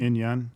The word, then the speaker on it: In-Yun: In Yun?